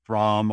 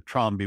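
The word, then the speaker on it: Trombe: And people who are familiar with passive solar design, that's known as a THROM or a THROMBY wall, depending on how you pronounce THROM.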